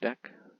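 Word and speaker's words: deque: for double into Q because mostly pronounce deck okay uh we have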